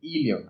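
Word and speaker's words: íleon: Duodeno, yeyuno e ilion, acento en la I, donde gran parte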